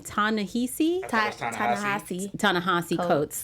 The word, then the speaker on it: Ta-Nehisi Coates: Ta-Nehisi Coates.